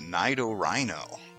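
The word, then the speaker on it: Nidorino: It's clearly based on a rhino. It's Nido Rhino. I know that's not the correct pronunciation, but that's the one that I settled on.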